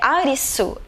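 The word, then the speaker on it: アリス: O nome do protagonista, que é Arisu, é a forma como o japonês pronuncia o nome Alice.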